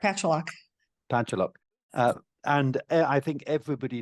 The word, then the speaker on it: Pacholok: I get the pronunciation wrong. Is it Pacholok or Oh, Pacholok? no, that's correct, Pacholok.